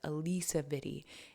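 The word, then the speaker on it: Alisa Vitti: mother of the movement Alysa Viti or Alisa I believe that's how it's said Alisa VI is the Pioneer of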